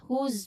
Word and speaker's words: whose: Again, whose book is? Whose book is this? Whose? So, remember whose? There's a buzzing sound at the end.